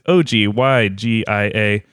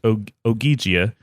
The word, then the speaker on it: Ogygia: It is Ogyigia. And I believe he said it should be pronounced Ogygia. Unless, but he didn't really specify if they were hard G's or soft G's. So it could have been Ogygia.